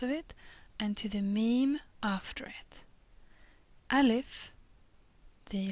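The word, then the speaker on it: م: it and to the mim after it. Alif, the letter A, can only ever be connected to letters that come before. Mim, again the pronunciation is easy. It's like M in mouth or mouse.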